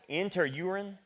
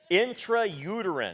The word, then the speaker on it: intrauterine: Intraurine in interurine. I can't even pronounce that. Doc, help me out. How do you pronounce that? Intrauterine.